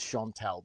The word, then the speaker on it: Chantel: Well, I know Mason definitely is Chantel because she asked that be how it's pronounced.